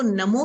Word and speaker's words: णमो: इसलिए जो लोग मंत्र साधना कर रहे हैं वो नमो की बजाय णमो बोले, ज्यादा प्रभावी होगा।